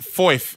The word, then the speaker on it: Foyth: at These this man are even playing man like Foyth, yeah?